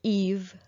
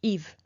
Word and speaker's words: Yves: So for the vowel, we pronounce it E, and I chose the name Yves, which is just a name in France for usually masculine name, Yves.